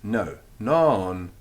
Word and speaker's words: non: little bit of fun non means no no no no it's got a long vowel so it's non nor norm norm enough